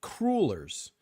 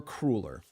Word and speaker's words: cruller: So, Teresa, my friends from the Midwest say you pronounce it crullers. And if you grew up on the East Coast, it's pronounced a cruller. So I don't know if anybody can settle this argument because it has escalated to a point of uncomfortableness. Cruller or crueler?